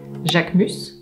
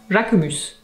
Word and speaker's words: Jacquemus: Hermès, Christian Dior, Chanel, Louis Vuitton, Lanvin, Le Maire, Céline, Jacquemus, or with a southern French accent, because that's where he's from, Jacquemus, Courrèges, Chloé, Le Coq